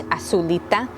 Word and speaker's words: azulita: blue in a way it's how it's said in spanish asulita anyways um this is